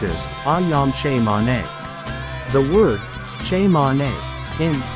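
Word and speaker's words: Ayam Cemani: chickens did you know that I am is pronounced as aam CH man the word CH man in am stands for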